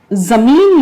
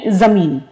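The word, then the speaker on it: ज़मीन: तो लेकिन उच्चारण जमीन लफ्ज आप बोलेंगे, जमीन नहीं बोलेंगे। तो पृथ्वी यानी जमीन। अब जमीन में देखिए, आपको जे की जो आवाज निकालनी है वो जेड, और इसी तरह से हिंदी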